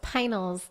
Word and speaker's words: Pinals: your last name oh it's finals it's like finals of the p ah okay cool because